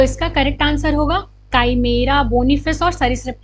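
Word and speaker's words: chimera: काइमेरा क्या है, इसे काइमेरा को अच्छा तुम एक चीज़ जानते होगे, इसकी स्पेलिंग ऐसे काइमेरा या फिर काइमेरिया, कितने लोग चिमेरा कहते हैं, काइमेरा, ठीक है।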